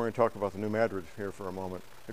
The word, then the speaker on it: New Madrid: Madrid seismic Zone and if you call it New Madrid you know you're not from Missouri it's New Madrid there's a town in